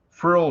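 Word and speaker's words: Phryll: The frill generator, it's spelled P-H-R-Y-L-L, it's like a life force.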